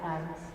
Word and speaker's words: Thames: Instead of singing about her evil aims, you could sing about her sturdy stems. That would rhyme with Thames.